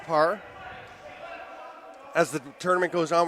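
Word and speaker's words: Pragh: We apologize to any members of the Parr family who heard us pronouncing it Prague, because it's spelled P-R-A-G-H. Looks like the city in Czech Republic, but he explained yesterday it's actually pronounced Parr.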